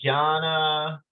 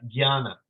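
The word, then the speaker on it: jñāna: you so this you you learn how to say it like Gianna but then you hear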